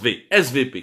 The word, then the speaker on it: SWP: fameux svp weight swp mais en allemand le w se prononcent vsv qu'il est cdu allemande